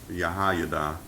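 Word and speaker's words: Jehoiada: him uh and really the nature Hebrew that's pronounced yahay the priest instructed him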